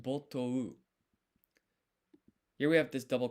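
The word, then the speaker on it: 没頭: もあれば、 Botou. Okay, so it's O and U, it's kind of like one syllable.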